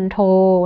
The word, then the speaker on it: มณโฑ: คำ เป็น น่ะ นะ คะ เช่น คำ ว่า มณโฑ นะ คะ มณฑล นะ มณเฑียร จัณฑาล กุณฑล เงี้ย